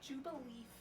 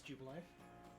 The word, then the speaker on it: Jubilife: Jubileef, though. I know it's Jubilife.